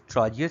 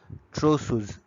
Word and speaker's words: Trousseau: It can be unmasked by the following test, that is Trogius sign and the Kostek sign. The Trogius sign is Trousseau's sign, is basically pronounced as is a Trousseau's sign.